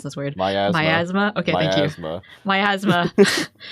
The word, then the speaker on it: miasma: The air within the mansion was oppressive, as though a black Okay, I don't know how to pronounce this word. Miasma.